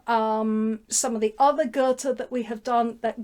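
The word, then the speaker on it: Goethe: which translation you read Gerta verta Gerta rhymes with verta that's how you work out how to say the both of them um verta dies a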